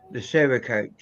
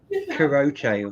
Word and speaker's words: Cerakote: I kept saying it weird, and I noticed when I was editing it, I was like, I pronounced it something like Karote or something like that. But I've managed to get my head round it. It's Burkle Cerakote.